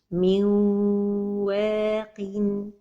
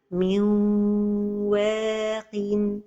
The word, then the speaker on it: من واق: Another example with نون ساكنة. من واق. The mistake is to pronounce the إدغام without غنة. من واق. And the غنة has time. من واق. This is the right pronunciation.